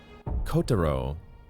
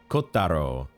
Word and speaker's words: Kotaro: Kotaro. Kotaro. I guess the emphasis is usually on the first syllable, isn't it?